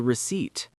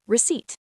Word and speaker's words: receipt: Remember that the letter P in the word receipt is completely silent. We do not say the P. We just say receipt.